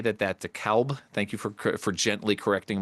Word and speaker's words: DeKalb: But I'm gonna say that DeKalb. Thank you for gently correcting my pronunciation.